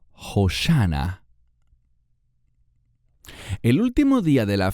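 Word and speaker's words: הושענא: Este canto se llamaba Hosana, o como se pronuncia en hebreo, Hoshana.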